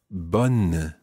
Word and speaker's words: bonne: of the word for good and that is bun bun and that spelled bo n n e as opposed to ball which is spelled B or n listen to the difference